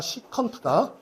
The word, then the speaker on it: 시컨트: 코사인 세타분의 1을 어떤 놈은 뭐 세크라고 읽는 놈들이 있는데 아니다. 시컨트다.